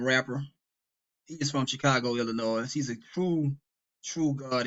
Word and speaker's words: Illinois: Tre said Illinois look he says the S is silent in ill Illinois if it is then why it's